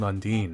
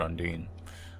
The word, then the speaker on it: Undyne: In that, essentially, everyone is completely harmless for the most part, except for Undine. Or Undyne, I think that's actually the correct pronunciation now.